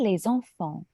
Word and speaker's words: les enfants: Oui, pas de thé, no T sound. Les enfants. Les enfants. Oui, even though there's an S, we know, okay, don't pronounce the S, but here we also don't even pronounce the T, le T. So, les enfants.